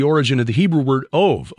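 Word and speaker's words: אוב: of the Hebrew word ov, O-B, but pronounced ov, which is usually translated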